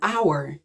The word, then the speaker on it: hour: why we say an hour we don't say a hour and you see our starts with a consonant letter h is a consonant but since the h is silent in our and we